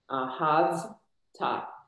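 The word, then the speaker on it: אהבת: Ahavta. Remember the shvav ends a syllable.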